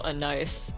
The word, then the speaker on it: anise: Because I know some people just pronounces it straight up as anus, so... That's all they do? Yeah. I say anise. Ah. Yeah, I don't know. I've just been pronouncing it as Annecy. Annecy? Why Annecy? Because I heard someone pronounce it as that, so I just went with that.